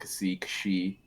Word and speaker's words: Xi: I keep pronouncing it Zai for some reason. Yeah, there's like a bunch of ways to pronounce that character. So you'll hear like Kashi is another one, Cassie is another one.